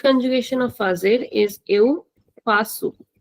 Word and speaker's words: faço: So the first conjugation of FAZER is eu faço. We are putting an accent under C, so we will pronounce this as sa, faço.